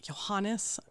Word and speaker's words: Johannes: But so the 20-year-old Johann knew, or Johannes, I think is actually how it's pronounced, knew the violinist, knew Joseph, the violinist, who then was you're an unknown composer.